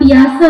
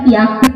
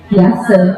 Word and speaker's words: Piaget: Kemudian tokoh yang kedua namanya Piase. Orang sering bacanya Piaget, padahal macamnya Piase.